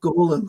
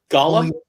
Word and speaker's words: Golem: Well, I pronounce it Golem. So It's Gollum. Gollum. Gollum. Because I find when I pronounce it the other way, it feels too much like I'm saying the guy from Lord of the Rings.